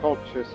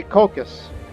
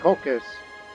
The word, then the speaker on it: Colchis: that name of that region which i originally pronounced as cultures it's actually caucus because i saw the greek alternate spelling of that name so it's cocos cocaine get used to it finally figured out